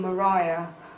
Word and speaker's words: Maria: insisted on being being pronounced the old way which is common in the 18th and 19th century Maria was often Mariah um without an age